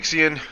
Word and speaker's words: Ixion: And it normal name is Ixion. IIX io N. I don't know. Maybe you want to pronounce it Ixian. I've heard some people pronounce it Ixen. I've heard some people pronounce it. I pronounce it Ixion. You know, pronounce the hell you want.